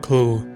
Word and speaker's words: CLU: to make the rocket accurate The gunner carries a reusable command launch unit (CLU, pronounced "clue"), which is the targeting component of the two-part system.